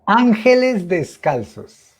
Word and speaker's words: Ángeles Descalzos: we work with a group of children called Angeles Descalzos, the Barefoot Angels. Okay, okay. And Ángeles they descalzos. were called, yeah. How do you say it in Spanish? Correct me, please. Ángeles descalzos.